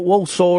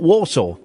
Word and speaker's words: Walsall: I only recently found out that Walsall is pronounced Walsall. It's not Warsaw.